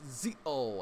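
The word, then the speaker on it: Zi-O: i add build or zeo as z oh i think that's how you say it z-o um from what i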